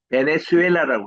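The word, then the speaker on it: Venezuela: 현 문제는 Z를 S 발음을 봐. 베네수엘라라고 읽어요.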